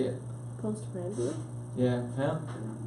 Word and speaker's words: postprandial: You know, what's that word postpran? After you eat. Well, how do you say it? Postprandial. Yeah. Huh? Postprandial.